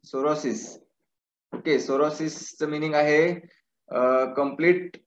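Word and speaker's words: sorosis: Okay, सोरोसिस spelling P एस ओ आर ओ एस आय एस, इट्स सोरोसिस.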